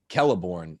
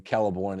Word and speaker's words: Celeborn: I was just making sure that I wasn't getting Celeborn and Celebrimbor mixed up. You got that classical Latin pronunciation of the C, the same.